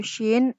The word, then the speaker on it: shin: Sedangkan pelafalan huruf shin itu sama dengan bunyi huruf SY dalam abjad Indonesia seperti kata syahadat dan syarat gitu.